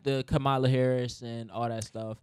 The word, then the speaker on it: Kamala: and all that stuff even the way that you pronounce her name like bread that's not even its Camila brah oh no it's come on let's welcome Camila come on Kamala its Kamala what'd I say Camila okay